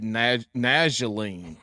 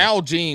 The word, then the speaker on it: Nalgene: This man just said Najaline.